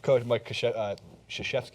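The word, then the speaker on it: Krzyzewski: spell his last name Co mik shashki is actually how you do it but no one would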